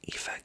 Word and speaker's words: Aoife: Ava's sister's name is Aoife, which is Aoife. Aoife is how you pronounce that.